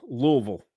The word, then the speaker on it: Louisville: Oh, it's like folks if you go to Louisville, Kentucky, they say Louisville. Louisville. Louisville. Louisville. It's just one syllable.